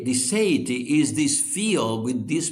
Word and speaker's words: seity: Is this the seity which is spelled like deity but it has an s. Yeah. The say the sity is this field with these properties you see.